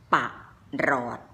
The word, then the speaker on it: ปรอท: คะ คำ อ่าน ปรอท ป่า รอด เห็น นะ คะ ท่อ ออก เสียง เหมือน เป็น ตัว สะกด คำ ต่อ ไป นี้